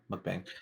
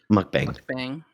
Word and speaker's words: mukbang: a a mukbang star is that how you pronounce it yeah mukbang mukbang would you say that you were a primarily